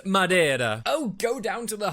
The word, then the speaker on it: Madeira: And it's pronounced Madeira. Oh, go down to the harbor if you want to gargle the Spanish so much. Portuguese, Mary. It's Portuguese from the subtropical archipelago of Madeira, which, spoiler alert, is in the name.